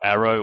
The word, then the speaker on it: ARO: Azure Red Hat OpenShift, or Arrow, or ARO, however you prefer to pronounce it, is all about.